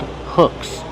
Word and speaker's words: hooks: These are called hooks. You need hooks to catch the fish. How do you pronounce hooks? Hooks. Use the short sound like look and book and good.